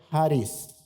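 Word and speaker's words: χάρις: Se pronuncia charis.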